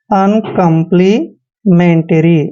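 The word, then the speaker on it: uncomplimentary: कंप्लीमेंट ठीक है ना अन कंप्ली मेंटरी ऐसे बोलते हैं इसको अन कंप्लीमेंट्री अन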